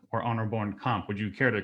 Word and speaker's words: Bornkamp: um your name pronounced one of two ways arno bourne camp or honor born comp would you care to correct the record for everybody yeah that's good arnold bourne comp all right perfect thank you um before we